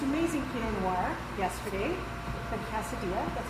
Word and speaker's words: Casa Dea: And I had the most amazing Pinot Noir yesterday from Casa-Dea. That's how you pronounce it, right?